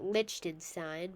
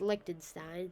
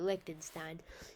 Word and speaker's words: Liechtenstein: A lot of people pronounce it Liechtenstein, but my dad told me that it was pronounced Liechtenstein, so now I pronounce it Liechtenstein.